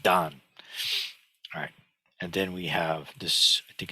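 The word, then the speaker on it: 旦: horizon to character four which means Dawn in Chinese and it's also pronounced Don and then we have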